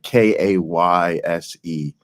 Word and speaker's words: Kayse: It's like Kayse. So her first name spelled a little different. I just got a notification. Kayse Malone, Melone. There you go. Yeah. It's spelled a little different. She's awesome.